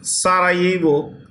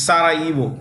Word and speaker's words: Sarajevo: Okay, is Sarajevo. The J in this word is silent. It's Sarajevo.